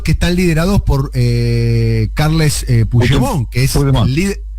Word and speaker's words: Puigdemont: Que son los que están liderados por Carles Puigdemont, que es el líder. Lo pronuncié mal, ¿no? ¿Cómo se pronuncia? No, Puigdemont, no, perfecto.